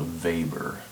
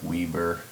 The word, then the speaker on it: weber: a name and it's called a vapor looks like weber if you anglicize it but in german pronunciation to weber and this is given